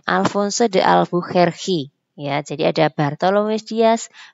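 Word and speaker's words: Afonso de Albuquerque: Yang ketiga, ini yang bacanya Alfonso de Albuquerque.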